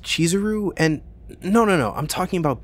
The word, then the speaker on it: Chizuru: Okay, first of all, it's pronounced Chizuru, and no, I'm talking about Beastars.